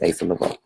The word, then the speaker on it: Asa Leveaux: It's Asa Leveaux.